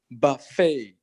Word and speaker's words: buffet: love it love it no you don't pronounce you don't pronounce the T you see buffet but fail failure good